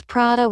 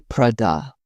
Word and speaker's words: Prada: Some pronounce Prada with stress on the da. Italians say Prada.